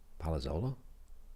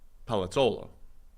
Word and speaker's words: Palazzolo: Palazzolo? Palazzolo.